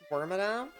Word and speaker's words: Wormadam: to switch Yeah like we're not worried about wormadam but yeah we're not yeah we're just not